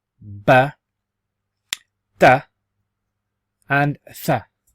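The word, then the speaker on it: ب: So because it looks like a boat, it's actually pronounced as ba.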